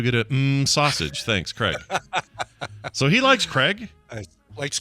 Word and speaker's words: Craig: i pronounce it like craig not craig oh really so he like he says i pronounce it like k-r-e-g yeah he says i